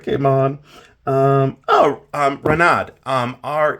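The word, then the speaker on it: Reinad: on um oh um ranad um re e i let's make sure I spell it right it's ranad re e i n a d so yeah renad um very you know very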